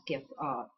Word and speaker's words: Skyp: It's actually the Simple Skip sock pattern. You probably know it better as the Simple Skype sock pattern because everyone mispronounces that. SKYP equals skip, not Skype. Skype is SKYPE.